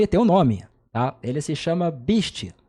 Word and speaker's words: Beastie: Eso proviene de la pronunciación inglesa, BSD, que se pronunciaría algo así como BSD. Entonces, hablando rápido, podría transformarse en Beastie, ¿sabes?